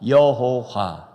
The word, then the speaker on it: 여호와: 여호와. 정확하게는 야훼예요. 히브리 발음에는 야훼인데 우리가 한글로 여호와 한 거예요.